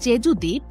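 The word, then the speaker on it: 제주도: কোরিয়ার দক্ষিণ পশ্চিমাঞ্চলে স্থিত জেজুদ্বীপ বিশ্বের ভ্রমণ পিপাসু মানুষের কাছে যেন এক স্বর্গরাজ্য পুরো দুনিয়ার সাতটি আশ্চর্যের মধ্যে জেজুদ দ্বীপ জায়গা করে নিয়েছে 2011 সালে কোরিয়ানরা এই দ্বীপকে উচ্চারণ করে জেজুদো বলে আগ্নিয়গিরির অগ্নুৎপাতে এই দ্বীপটির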